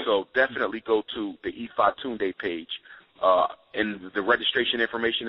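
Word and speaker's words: Ifatunde: Ifa Tunde, that's my Yoruba name, and it's spelled I-F-A-T-U-N-D-E.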